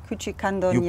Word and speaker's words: Küçükandoniadis: Küçükandoniadis, Küçükandoniadis. You pronounce really good.